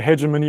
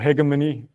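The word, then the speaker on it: hegemony: So a lot of scholars talk about the the hedgemony or hegimmony, you can pronounce it however you want of English.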